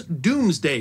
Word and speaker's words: Domesday: Normans couldn't spell but because Dome was pronounced Doom before the Great Vowel Shift and so the Norman